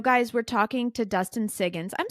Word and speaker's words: Siggins: we're talking to Dustin sigin I'm saying your last name right right Dustin correct at least you're not saying Higgins you're actually pronouncing siggins but Dustin has written